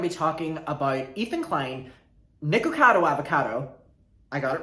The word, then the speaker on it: Nicocado Avocado: we're going to be talking about ethan klein nicocado avocado i got it right i've been calling him nicado avocado and people were ringing me in the comments